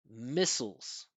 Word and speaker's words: missiles: This is a syllabic consonant. It's an unstressed syllable that has an L at the end, so the vowel disappears. So we don't say sows, we say souls, souls, missiles, missiles, like that.